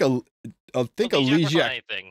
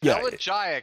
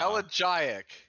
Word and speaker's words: elegiac: I think Elysiac. Yeah, it works on anything. It just can't. Yeah. 20% less proc. It's elegiac. How many times do I have to tell you guys? It's pronounced elegiac.